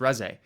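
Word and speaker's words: Reze: That's why people laugh when I call Reese Ree because I don't I pronounce the character the way I read it because I never watched it until somebody corrects me and they're like it's pronounced Res.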